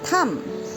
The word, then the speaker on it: thumb: So, b is not pronounced when it's followed by m. Like thumb.